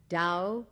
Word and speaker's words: Tao: after the two main concepts of the book Dao meaning way it is spelled t a o dur meaning virtue or